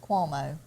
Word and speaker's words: Cuomo: it will stay uh kumo is that how you say his name cuomo cuomo all right the governor